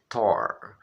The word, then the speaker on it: tore: Detalhe, tá vendo que na palavra tore termina com a letra E? Qualquer palavra em inglês que termina com a letra E, não se pronuncia, tá? Exceto se tiver duas letras E no final. Se tiver uma letra E, essa letra E não existe.